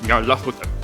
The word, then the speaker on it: Nyarlathotep: The closest pronunciation I've been able to find is Nyarlathotep.